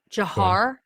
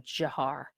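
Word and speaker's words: Dzhokhar: Um Jiar. Jiar and Tamarlain. Those are the two brothers. Just so you want to know to how to pronounce them. Jiar.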